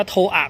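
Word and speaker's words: TOA: ก็ คือ ลำโพง ฮอร์น โทอา เขา อ่าน ว่า โทร อ่ะ เข้า ไปชั่น Japan นะ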